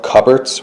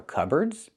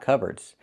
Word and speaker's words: cupboard: So the P is silent.